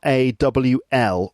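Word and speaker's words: Rawlplug: in the wall and roll plugs starts with an r that's r r-a-w-l rawl plugs and yeah in the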